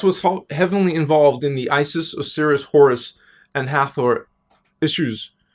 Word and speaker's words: Isis: Isis is a collective of beings, and there are numerous individuals and bodies named Isis, personalities, characters, and actually it was Isis. It was pronounced. It was not ISIS.